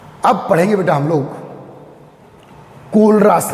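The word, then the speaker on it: Kohlrausch: Important कर दो, कोलरास, कोलरास पढ़ना, खोलराज नहीं पढ़ना इसको। कौन सा राज खोलने वाले हो आप? कोलरास, या इसको साइलेंट है, कोलरास।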